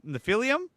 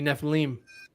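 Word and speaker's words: Nephilim: is it the the nephelium no it's actually to pronounce it correctly it' be neph leim that's what she said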